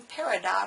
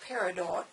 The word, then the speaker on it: peridot: then also the green peridot of Parador pronounced both ways for a contentment with